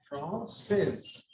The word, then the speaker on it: française: No, from there is e at the end, so this S is pronounced. Française. Français. Je suis française.